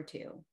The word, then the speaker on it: two: for example, the number two, one of my favorites, T-W-O. Why is there a W, right? Yeah. It's not two. Yeah. Not pronounced.